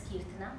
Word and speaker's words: Keerthana: First things first, my name is Keerthana, and my darling mom named me Keerthana because she wanted it to rhyme with my elder brother, whose name is Karthik. So Karthik, Keerthana. So even to this day,